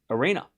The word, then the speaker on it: Aryna: beats Goff, beats uh Andra semi-final again at a slam, but she just ran into Arena, which rhymes with Serena.